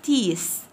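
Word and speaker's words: teeth: اسنان تيس تي اي اي تي اتش، التي اتش هنا بننطقهم سي، تي اي اي تي اتش.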